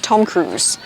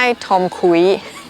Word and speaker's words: Tom Cruise: เฉย ๆ นะ คะ Tom Cruise โอเค ม ลอง ฝึก ดู นะ ไม่ ใช่ ทอ คุ้ย ใคร เรียก ทอ คุย ยอม รับ มา ใน